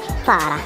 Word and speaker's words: Zara: marano Zara Z pero Spanish brand iyan ' ba Zara ang tamang pronunciation daw ng Zara Ay sara sara Hindi raw siya Zara Sara kasi Spanish brand Ganda sabi lang naman